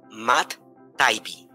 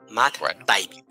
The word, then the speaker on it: Matt Taibbi: pregunta, doctor Fernando, para quien lo quiera buscar, se escribe M-A-T-T espacio T-A-I-B-B-I, Matt Taibbi, Matt Taibbi.